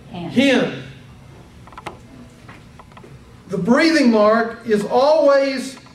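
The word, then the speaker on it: ἕν: If it has a rough breathing, you pronounce it hin.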